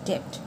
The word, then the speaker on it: debt: correct answer number five which word has silent B boy ball debt the answer is debt so now we come